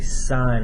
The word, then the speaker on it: sine: it as s i n and we don't pronounce it as saying we say sine right there o stands for opposite h stands